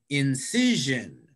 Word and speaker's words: incision: the last one kasia incision incision i think in the second just see yeah very good the second syllable incision perfect so i'm not